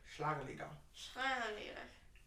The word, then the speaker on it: Schlagerlieder: Okay, Schlag. Schlag. Schlag. Schlag. Li. Der. I'm gonna give you a heavy American accent. Der. Yeah. Schlager. Leader. Schlagerlieder.